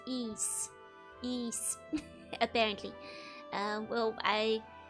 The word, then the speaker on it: Ys: So, I've been told it's pronounced ease.